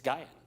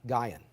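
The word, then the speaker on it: Guion: per hour barry i just looked up the pronunciation of g-u-i-o-n and i i it's from a native arkansan he says it's gaian gaian so we'll make sure we got in any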